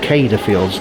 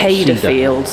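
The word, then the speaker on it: Céide Fields: it we just discovered it's called cada Fields not CER Fields yeah yeah cader Fields it's always hard to pronounce things is it as well well it is when they spell it with a c yeah above the and yeah so it's kadada cada Fields looking at dating information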